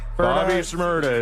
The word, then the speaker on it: Bobby Shmurda: That is rhymes with Shmurda. Ferda. Bobby Shmurda is correct.